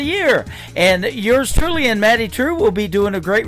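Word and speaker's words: Maddye Trew: That is a brand new single from Maddie True. It is Maddye on her first name, and True is spelled Trew.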